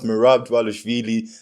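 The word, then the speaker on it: Merab: DV a but I finally learned how to pronounce mirab that's going to be a great Main Event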